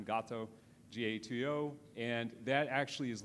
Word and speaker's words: Gato: Now, Google at DeepMind, they actually currently have a technology, it's called gato or gato, or however you want to pronounce it. I use the Spanish term gato, G-A-T-O, and that actually